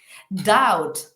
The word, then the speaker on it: doubt: pronunciar esas palabras vale doubt aquí la B por ejemplo no suena Por qué tienen esa afición a poner palabras que no suenan vale la B aquí no suena o fijaos la siguiente